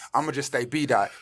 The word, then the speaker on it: B Daht: going to just stay B dot. But I don't want to spell it D-O-T. I'm going to change the O to a A-H because that's the R sound.